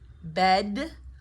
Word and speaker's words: bed: This is a stop consonant as well, right? Like the t, as long as we don't aspirate or release the sound, we can catch it.